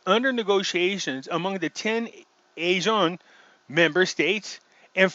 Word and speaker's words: ASEAN: ASEAN, because that's how you pronounce it, I found out. A list of German person said it wrong. It's not ASEAN. This is Sean.